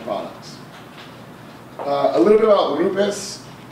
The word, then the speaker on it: Rupes: a little bit out Loomis and that's the correct pronunciation I've spent some time